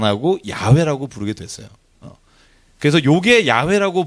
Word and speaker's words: 야훼: 고고학을 하다 보니까 아하 원래의 모음은 야훼가 맞다. 아하고 그죠? 회 발음이 가장 이 구약 시대에 하나님을 불렀던 발음과 일치한다. 그래서 여호와라는 것을 이제 안 하고 야훼라고 부르게 됐어요.